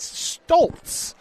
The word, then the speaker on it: Staltz: that number four JC that is Staltz. He said there is an L in there.